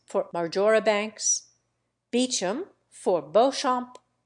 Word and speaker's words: Beauchamp: John Poole for Powell Weems for WHMIS cardigan for Cadogan Mowbray for Marlboro key for Keynes Marchbanks for majora banks Beecham for Beauchamp Chumlee for chow monthly trolley for